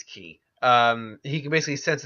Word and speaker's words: qi: 60 miles an hour ki sense or get to put Qi ki depending on your pronunciation key or qui it's key um he can basically